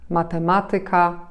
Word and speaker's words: matematyka: będą ciekawsze w odbiorze a mianowicie niektóre słowa przede wszystkim zakończone na ik ik te słowa które są obcego pochodzenia takie jak matematyka muzyka gramatyka akcentujemy właśnie nad trzecią sylabę od końca powiecie to obce słowa